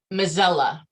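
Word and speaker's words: Mazzella: And how did you pronounce it? Mozilla.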